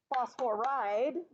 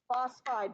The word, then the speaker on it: phosphide: two syllables I tried so phosphorus phosphorus that's three syllables does not become phosphoride what would it become phosphide because there's only two syllables in anions okay so basically